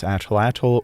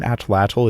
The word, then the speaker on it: atlatl: Many English speakers incorrectly pronounce this word as atlatl or atl-atl, but just like the name of the language Nahuatl, you do not pronounce the TL as you would in English. Instead of the L, you make a hard T sound and blow air out of both sides of your mouth. That's why saying atlatl is wrong. It's atlatl.